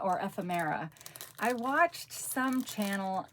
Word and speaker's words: ephemera: long time ago, and the person pronounced it ephemera, which is how it's spelled, but I'd never heard anybody call it ephemera before. But now when I see the word written, I hear ephemera because that's how it's spelled, but I call it ephemera.